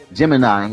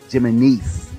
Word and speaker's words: Jimenez: my lawyer I said I always say Jim Jiminy gemini or Gemini when it's Jimenez okay but this is the